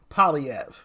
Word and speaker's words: Poilievre: Poilievre. That's how you properly pronounce him.